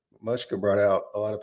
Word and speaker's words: Mushka: her name um so it is not mooshka like i have been saying for the past two weeks it is mushka girvich so i'm to bring